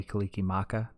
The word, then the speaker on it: Kalikimaka: It's Mila Kalikimaka, not Laka.